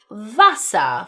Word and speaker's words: Wasser: Then 'v's make 'f' sounds, like the number vier (4) is spelled v i e r (feahr) 'W's ,now in turn, make 'v' sounds such as the word 'Wasser'(vasa) for water.